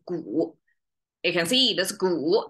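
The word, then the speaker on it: 古: So that's ancient, pronounced the whole thing, pronounced as gu.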